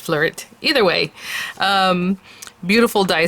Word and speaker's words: Fleurit: i hope i'm pronouncing it right it's the flourished floret usually in french if it's a french word you don't really pronounce the t but i'm not sure it's flurry or just flirt either way um beautiful